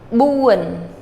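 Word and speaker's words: បួន: Now, this is uan. It ends with an N. But buan. That's your accented syllable. Buan.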